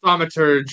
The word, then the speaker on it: Thaumaturge: We also have the Thaumaturg. Ooh, I don't even know how to pronounce that. Thaumaturge or whatever.